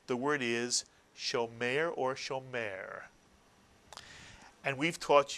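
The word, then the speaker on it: שומר: Two vowels, therefore two syllables, and the first syllable is show. Very good. And the second syllable is mare, Mitsuyan. And the word therefore would be pronounced shomer, Mitsuyan. And Israelis tend to shorten the tsere in certain words to make it sound more like a segol. So many Israelis would say shomer rather than shomer.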